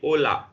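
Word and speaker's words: hola: हमने बोला था एच का कोई साउंड नहीं होता। यू कैन see here we are reading out only this part, OLA, ओला, ठीक है।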